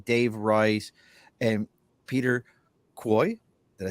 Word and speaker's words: Kuo: You can find Kristin Manna, and it's Manna, Dave Rice, and Peter Quoy. Did I say it right, Quo. Peter? Oh, like Quo. status quo? Yeah. Status quo, Peter Quo.